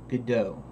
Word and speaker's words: Godot: philosophy behind it but considering that they pronounce it Godot there and considering God vidoes named Godot is probably a proper pronunciation but I started looking